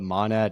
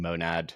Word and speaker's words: monad: both are right um I think like there's like a American American pronunciation and a UK pronunciation um and I forget which is which but manad and monad are yeah both right it's one of those